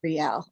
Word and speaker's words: Riel: I'm not gonna let me just let you pronounce your main character's name first. Or I would call him Real Brava. Riel.